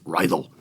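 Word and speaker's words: Raidho: beautiful it's an engaging sound they've been using rido speakers for a while I'm pronouncing that right cuz I was in Denmark and say it's Ral just is so Punchy and Lively and dynamic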